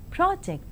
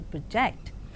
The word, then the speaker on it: project: So, a word can be present or present, object or object, project or project.